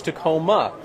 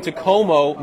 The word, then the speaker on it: Takomo: say it and I thought it was Tacoma so when I tell people it's Tacoma I always have to spell it cuz it's t a k m o it's a weird word cuz it's a Finnish word and the company's based